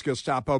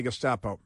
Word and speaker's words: Gestapo: Um they these and most of them can't even pronounce Gestapo, but they love calling everybody Gustapo.